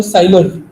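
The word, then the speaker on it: Seiler: Jason सेलर एक स्टाइलर है basically, इनको ऐसे, सॉरी जेसन सेलर जो है साइलर के कारण प्रोनाउंस करते हैं, ये इलस्ट्रेटर है जो कि शिकागो से है।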